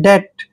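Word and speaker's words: debt: क्योंकि टी से पहले बी साइलेंट होता है और टी को हम ट पढ़ते हैं डेट डेट मींस होता है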